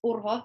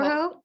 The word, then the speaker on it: Urho: I kind of It's say just it the right. R that is different for native English speakers than because we roll our R's in Finnish.